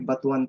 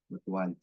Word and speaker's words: batuan: yung ah batuan Batu Actually batuan talaga ang pagpronounce niya batuan So ini-introduce na nila